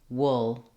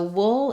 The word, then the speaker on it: wool: So wool is a challenging word to pronounce just because it has an interesting combination of sounds and an unusual spelling. First of all, letters O in this word say the vowel.